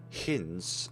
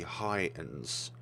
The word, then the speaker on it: Hines: So, Hins, as I pronounce, was actually Hines.